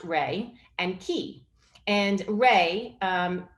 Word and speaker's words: rei: into two words rey rei pronounced rey and ki and rey